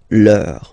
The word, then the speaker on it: leur: don't pronounce the final S, vos, you don't pronounce it, leur.